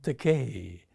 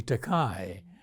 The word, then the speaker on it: Takei: Many people mispronounce my surname. They call me teai. So this is my opportunity to correct them. It's pronounced te.